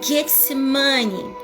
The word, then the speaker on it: Getsêmani: Getsêmani em hebraico, ela é pronunciada como Getsemane.